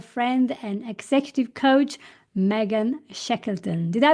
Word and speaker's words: Shekleton: Austin, Texas, our friend and executive coach Megan Shekeleton. Did I pronounce this correctly?